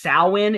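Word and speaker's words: Samhain: pronounce that some it's pronounced yes it's pronounced sin.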